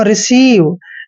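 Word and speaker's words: receive: यहाँ पे ई के बाद आई आया है, जब भी ई के बाद आई आता है तो ई आई का उच्चारण बड़ी की मात्रा करते हैं।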